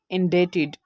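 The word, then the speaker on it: indebted: Second example है हमारे पास इंडेटेड। तो यहाँ पर भी हम देख सकते हैं बी से पहले ई आया, बी के बाद टी आया, तो यहाँ पर इसकी प्रोनाउंसिएशन हमने की इंडेटेड और बी को साइलेंट कर दिया।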